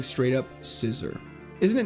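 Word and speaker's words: Scizor: It's not Caesar, it's Scissor. There's no way it's meant to be pronounced as Scissor, right?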